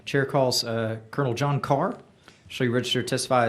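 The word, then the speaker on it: Ker: And thank you, chairman, for pronouncing my last name correctly because it's spelled K E R.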